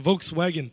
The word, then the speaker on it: Volkswagen: Volkswagen. I got it in Vancouver. Hey, by the way, you know it's supposed to be pronounced Volkswagen, right?